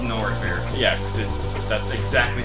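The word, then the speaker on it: Norfair: Not Fair. Was it Not Fair or No Fair? We called it Not Fair. Okay. Some. It's actually pronounced No Fair, but it's actually pronounced Nor Fair.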